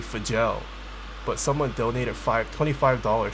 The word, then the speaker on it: Fjell: more like 24 millimeters is it pronounced for gel or fell it's technically supposed to be for gel but someone donated five